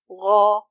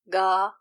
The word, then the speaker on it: غ: Gha and not Ga, Ga, Gha, Gha, not Ga.